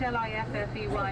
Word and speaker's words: Liffey: here so it is a river lifty spelt l-i-f-f-e-y it is the liffey that gives dublin its